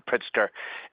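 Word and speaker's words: Pritzker: uh seems like uh I apologize if I mispronounced names. Governor Pritsker is is very big in quantum computing.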